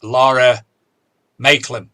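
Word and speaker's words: Lara Maiklem: I read Mudlarking by Laura Maitland. Is that correct? Have I said it right? That's correct, yes.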